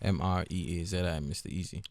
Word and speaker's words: MREAZI: my socials everywhere is at MREAZI, Mr. Easy. You doing this distribution network called Empower. Yeah. And it's spelled EMPAWA Africa.